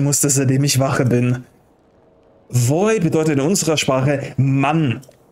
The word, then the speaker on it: Vooi: Boy oder bin ich eher dein Boy? Oh, nicht B. Weißt du, bei der Aussprache leicht auf die Lippen. Boy.